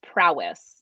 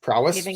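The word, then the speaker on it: Prois: I believe it's pronounced prowess prowess like yeah that sounds like like a it's spelled p-r-o-i-s but I think it's pronounced prowess which makes sense when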